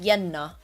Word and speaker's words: Jenna: Or like if I have a friend whose name is Jenna, it's pronounced Yenna.